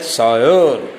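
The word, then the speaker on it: sire: Look सायर, इट is pronounced as सायर.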